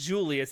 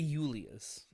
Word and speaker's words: Julius: No, it's funny because in Latin that's how his name would be pronounced, Julius. Oh, is it really? Yeah, there was no actual J letter or sound in the Latin language.